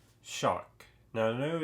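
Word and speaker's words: Xoc: we have one called Shock now I know it's spelled X XC but I looked in the book and they pronounce it shock and it's just basically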